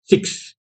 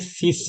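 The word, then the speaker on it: six: same है okay लेकिन प्रोना प्रशन सिक्स नहीं है बल्कि सिस है सिस ओके नेक्स्ट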